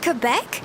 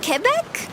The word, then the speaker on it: Quebec: Is it pronounced Quebec, not Quebec? Whoa, wait a second. I feel like my mind is being blown a little bit. It's pronounced Kebec, not Quebec.